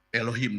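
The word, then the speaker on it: אלוהים: Beresit bara Elohim. Dibacanya seperti itu, Sa-saudara.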